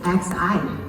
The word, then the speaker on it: Xi: But I want to ask people, the matter because in front of Omicron actually is XI. In China we call it Xi. The same pronunciation is as Chairman Xi Jinping. So where is the Xi variant?